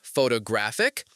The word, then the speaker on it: photographic: And photographic. Photographic. See, same root, different music.